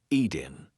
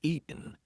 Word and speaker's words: eaten: Eaten, eatin. That T is followed by a weak N sound. So we are not going to say eaten. We're going to say eatin.